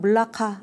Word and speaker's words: 말라카: 이렇게 정한 것입니다 4 말라카 는요 말레이어로 이제 물 라카 말라카 뭐 다양하게 부릅니다 그리고 또 뭐 현지 사람들의 말을 들으면 뭐 몰라 말락 뭐 이런식으로 발음을 하기도 하고요 근데 이제 우리는 그냥 한국어 발음에 적절하게 가장 이제 비슷하게 말라카 이렇게 그냥 씁니다 뭐 때에 따라서는 몰라